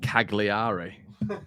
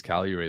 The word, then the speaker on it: Cagliari: but oh dearly uh charlotte's pronounced cagliari is it cagliari i think i think it's i think it's calorie mate yeah um anyway ariston